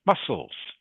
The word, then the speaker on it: muscles: The C that you see in that word is silent. You don't pronounce it. So the word is just pronounced muscles.